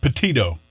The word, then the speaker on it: Petito: Is that how you pronounce her name? Petito.